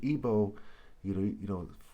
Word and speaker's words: Igbo: Okay, and Igbo, for example, with a bow and arrow, we spell B-O-W. Igbo's I-G-B-O, or the G is silent.